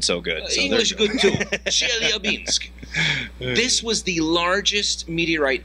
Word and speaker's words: Chelyabinsk: of meteorite fragments over the Russian city of Chelyabinsk. Chelyabinsk.